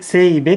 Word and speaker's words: ZEIBE: シールドの曇り止めこちら前イベとかいて生イベと発音します清兵衛元のクリーナー